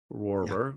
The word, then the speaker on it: Rohrer: the F so there's a few ways to spell it yep but I am linking to you so uh Roar right r-o-h-r-e-r and if you are listening to